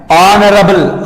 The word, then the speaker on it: honorable: And honorable, honorable, honorable. Okay, here it is pronounced as a vowel sound, so it takes an before it.